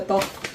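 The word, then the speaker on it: 떡: I'm trying to pronounce top. Okay, when you say tteokbokki, you say boki at the end. This is just the top.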